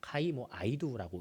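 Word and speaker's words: καὶ ἰδού: 되어 있는데 이게 이제 헬라어로는 카이 뭐 아이두라고 읽습니다이 표현은 그런데 보아라라는 뜻이에요 그리고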